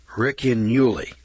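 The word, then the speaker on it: Ricinulei: It's spelled R-I-C-I-N-U-L-E-I. Riccinulei. That's the way I'm pronouncing it.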